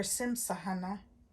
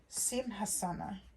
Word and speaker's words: Simhasana: unquote lion seat, pardon me, or Simsahana. Pardon me, I didn't say that correctly, I think. Let me try again to say the lion seat, and I think it's Sanskrit. Simhasana. Maybe I did say it correctly.